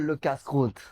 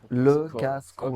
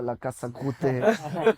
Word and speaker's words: Le Casse-Croûte: It was called Le Casse-Croûte. So that's so hard to pronounce. Can you spell that? LECASSECROUTE. Le Casse-Croûte. Okay. So people used to call it La Casa, La Casa Croûte.